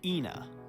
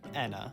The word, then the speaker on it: Ena: In this video, I will be pronouncing this name as Ena. I'm aware of the fact that some people say Anna or sometimes even aa but in all my research it seems like any pronunciation is fine.